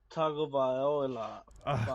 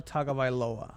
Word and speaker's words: Tagovailoa: May, How do you pronounce Tua's name? Uh, Tua Tagovailoa. Close. Tua Tagovailoa. You missed a no. Tagovailoa.